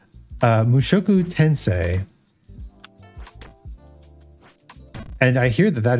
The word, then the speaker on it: Mushoku Tensei: on my roster is musokutensien mushoku tensei god i should pronounce it correctly if i want to learn how to speak japanese mushoku tensei and i hear that